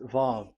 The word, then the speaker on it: Vav: So it's V as in Vogue. So it's really V. How to read Vogue? So the word, the shape Vav is really pronounced V, like Vogue. That is it, pronunciation. So here in this side, it's pronunciation. This is pronunciation. So according to the old Hebrew word today, those who, the owner of the words, I mean, so it's a V. So don't change it into W, and you will say